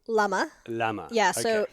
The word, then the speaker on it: Lama: Lama. Lama. Yeah, so Okay. think of like the fruit, the plum. Lama.